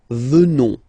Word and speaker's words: venons: Final S not pronounced, so you will get the sound venons.